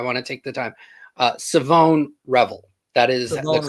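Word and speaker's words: Shavon: Savone Revel. That is Savone the correct Revel. way to Savone pronounce it.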